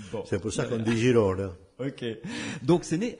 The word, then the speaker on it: Girona: Oui, Girona. C'est ça qu'on prononce. Voilà.